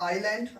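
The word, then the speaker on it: island: से पहले आई तो जब एस से पहले आई होगा और आई के बाद में एस होगा तो फिर क्या होता है एस जो है हमारा साइलेंट हो जाता है यानी एस का हमें उच्चारण नहीं करना है हा को हमें नहीं पढ़ना है तो इसे हम पढ़ने हैं आयरलैंड आयरलैंड मेंस होता है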